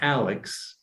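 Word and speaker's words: ALEKS: a personalized learning program using a tool like alex which is spelled a-l-e-k-s it's from a company called mcgraw-hill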